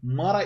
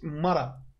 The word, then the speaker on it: Mağara: Mağara iksiri. Mağara diye mi okuyacağız? Mara. Mara. Dümdüz mara.